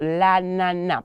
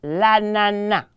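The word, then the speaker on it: ananas: about there and so la Nana please the last s there Excellence when I say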